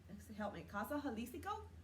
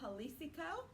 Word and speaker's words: Jalisco: So visit Casa Jalisco, and I hope Mexican I'm place saying by it. Michael's. I hope I'm saying it correctly. Yeah. Because you pronounce the J's like H's, Yeah.